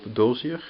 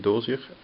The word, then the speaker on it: Dozier: So actually I'm looking at an affordable compact Puma, a Boker Plus, which is actually a Bob Dozier, I think you pronounce it Dosier design, and here a Le Camarguais.